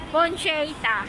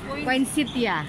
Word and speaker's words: poinsettia: Poncheta. Poncheta. Parang tuloy akong nagmumura. Diyan, anong tawag doon sa poncheta? Poinsettia.